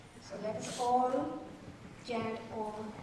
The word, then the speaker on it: Om: Most of us know what is Om. It is 3 syllable, A, U and Om.